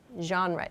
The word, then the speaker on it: genre: artists or to talk about your favorite genre genre is the pronunciation of this word okay so let's move